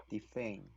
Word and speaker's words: defend: So for the first syllable, this is actually a silent E. So, but the second syllable, which is fend, should be in a short E, which is e. Defend. Again.